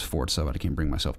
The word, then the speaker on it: Forza: I know it's Forza, but I can't bring myself to pronounce it like that.